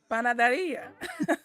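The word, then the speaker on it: panadería: Panaderia? Panaderia.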